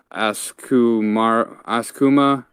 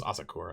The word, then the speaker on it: Asakura: to war with the I think Askuma people who are like the village over. I have to see that word. I forgot how you say that. I can't remember how to say it either. But so they're pretty much like going after. Oh, it's Asakura. Yeah, Asakura. Yeah, and they're pretty much